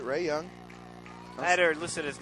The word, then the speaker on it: Ray Young: Ray Young.